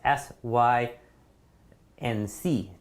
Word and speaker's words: sync: you pronounce this is the same way you pronounce like s i n k like a ship is sinking right or kitchen sync